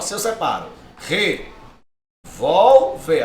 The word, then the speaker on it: revólver: ó, se eu separo, revólver, até o final da aula aprenda a usar esse negócio, tá? Revólver, perceba, a sílaba tônica não é a última, não é o ver, percebe? Olha lá, não é o ver, então ela não é oxítona, tá fora. Ó, revólver é a penúltima.